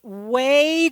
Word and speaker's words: Weigh: Strangers Season 3, Episode 2, which is called Way to Go Buddy. And way is spelled W-E-I-G-H.